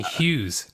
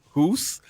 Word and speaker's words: Hus: Yeah, I think I've been saying Hughes. God yeah, damn it. yeah. Obviously, Hus. because I'm half German, I know how to pronounce it in the German way, Hus. But Americans say Hus.